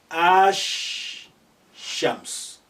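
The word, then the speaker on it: الشمس: next to each other therefore the first to come the obvious one was removed it's not pronounced we say ash so you are linking the with ash shams whereas here the moon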